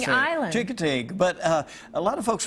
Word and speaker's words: Chincoteague: Jingding Island. Yeah. I can say it when I say it like that. Well, that's the local way of saying it. Island. Chincoteague.